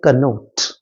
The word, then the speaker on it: connote: याद रखिएगा इसका जो करेक्ट प्रोनाउंसिएशन है वो है कनोट।